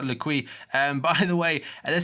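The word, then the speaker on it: L'Équipe: This is according to L'Equipe. I think I said it wrong. I think apparently it's like L'Equipe.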